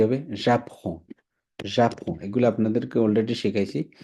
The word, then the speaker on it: j'apprends: শিখি তাহলে কি হবে j'apprends j'apprends এগুলো আপনাদেরকে অলরেডি শিখাইছি জাস্ট খালি ডেমনস্ট্রেট করলাম j'apprends j'apprends j'apprends এখানে ডিটা উচ্চারণ হবে না এস উচ্চারণ হবে না j'apprends কি শিখে ফরাসি লু